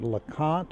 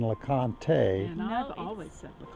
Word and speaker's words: LeConte: last one what is the proper pronunciation of this spot here said LeConte or Laconte it's the cot thank you very much because I've had people trying to tell me it's been Laconte just kind of like